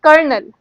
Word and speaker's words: colonel: I have seen people saying colonel, but they know how to pronounce it, but when they see the spelling of it, they get confused. This is colonel.